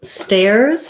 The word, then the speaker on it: stairs: the stairs um so stairs has the air diphthong and i would probably build from that so making sure that you can say air and then try tear and finally stare this letter s says the z sound because the air is voiced and so adding letter s it says z after a voice sound and the the in